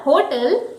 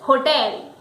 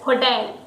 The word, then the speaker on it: hotel: So the word is not hotel, the correct pronunciation is hotel. It's ho and the focus is on tail. So the word is hotel.